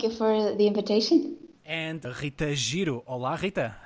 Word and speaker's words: Rita: So I'm not going to say Rita or, but rather Rita and.